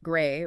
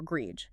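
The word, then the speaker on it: greige: Greg, pronounced gray or grege is the technical term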